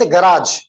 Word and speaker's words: garage: एक है हमारे पास गराज, क्या है? आप गैरेज ही बोल सकते हैं, गराज अच्छा वर्ड है।